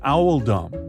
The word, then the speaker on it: Oldham: one would read emojis you would arrive at Owl Dum which is actually a reference to Hugh oldum when you look at the crest of the town of oldum you'll see it's very similar to that of the school this Choice was made to reflect the pronunciation of oldum in the